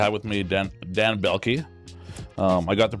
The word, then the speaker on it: Belkie: Today I am honored and privileged to have with me Dan Dan Belki. Um, I got the pronunciation correct.